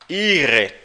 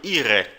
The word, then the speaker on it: Ihre: Ihre. O R lá no fundo da garganta arranhando. Ihre.